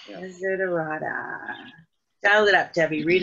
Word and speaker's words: Desiderata: Desperado. Nope. Desiderata. Desiderata.